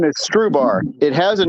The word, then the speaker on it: Strubhar: So we just say it's Strubhar, kind of like rhubarb, but it's just Strubhar, and like straw and a bar, basically. So it's Stru and bar.